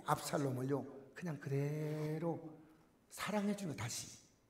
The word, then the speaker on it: 압살롬: 내 아들 압살롬아, 압살롬. 여러분, 롬이 아니고 롬입니다. 압살롬.